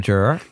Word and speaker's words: juror: If you're a juror. Yeah. It's a two-syllable word, just so you know.